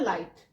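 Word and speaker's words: light: silent है यहां पर नेक्स्ट वर्ड है लाइट लाइट में आई एक वल है अब वाउल के बाद क्या आ रहा है जी एच जी एच भी क्या है यहां पे साइलेंट लेटर है ऐसे ही थॉट थॉट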